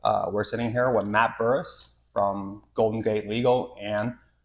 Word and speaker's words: Bourhis: What's Bourhis? Bourhis is the French pronunciation of my last name, but we butchered that when my family came to the U.S.